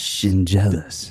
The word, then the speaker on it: Schendzielos: And you say it like shin and jealous. Like you're jealous of my shins because they're nice. Shinjealous.